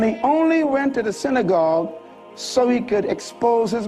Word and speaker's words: synagogue: The word synagogue is actually pronounced synagogue. Synagogue, shina means place. Agog means meeting.